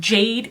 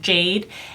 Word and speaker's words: GA-DE: the brand is called Jade Cosmetics it is spelled GA - de but I believe it's pronounced Jade and in reading through